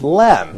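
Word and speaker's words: لام: This probably could be a regular rule for the Arabic alphabets, because here, the alphabet lam is written, and it's not pronounced la, it's pronounced as Yeah. as lam, Yeah. as a letter.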